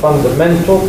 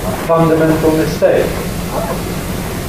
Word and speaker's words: fundamental: on its first or sometimes on its second syllable, you get this pattern. 16 men. In the handout, we've got the example fundamental plus mistake, which tends to give fundamental mistake.